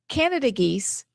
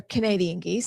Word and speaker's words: Canada geese: And then the our Canada geese, it's actually how you say it. You don't say that they're Canadian geese.